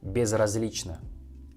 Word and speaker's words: безразлично: For example, "Мне безразлично," "Мне безразлично," "Мне безразлично." You should know that in Russian word безразлично, last letter O we pronounce like A.